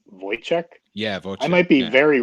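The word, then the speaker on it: Woyzeck: ran uh as uh i think he pronounces it wozak but it's voice yeah i might be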